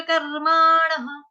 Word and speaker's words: कर्माणः: प्रभवन्त्युग्र कर्माणः, कर्माणः, कर्माणः। अण, अण कौन सा है, बाण वाला, उसके आगे विसर्ग, विसर्ग का उच्चारण ह से।